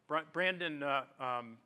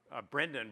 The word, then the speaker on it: Brenden: our stage or our rather our title sponsor Brandon Brendon rather I want to make sure that I pronounced that correctly from now on I promise